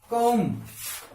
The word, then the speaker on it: comb: Therefore देखते हैं कि जैसे मैंने बोला COMB, COMB, अब इसको कौन बोलेंगे, नहीं, क्या होगा ये, कौम, तो कौम, कौम।